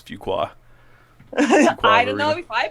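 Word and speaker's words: Fuquay: I used to pronounce that wrong for so long until somebody said it's Fuqua.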